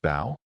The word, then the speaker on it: Bo: Anyways, I want to introduce you guys to my two sons, Mark and Bo. Pronounced Bao.